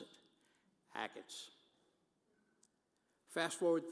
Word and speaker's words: Achatz: and to remember his name and how to pronounce it, Achatz.